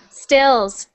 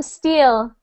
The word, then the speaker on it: still: me maybe maybe because if you ever said yes i am steel that sounds like you are saying steel like the metal there is a metal that is steel so you don't want to say i am steel you're trying to say i am still like i am continuing i am still happy